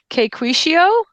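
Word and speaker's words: Caquetio: South America and are referred to as the Quishio, um, which is spelled C A Q U E T I O. So the Quicio Indians.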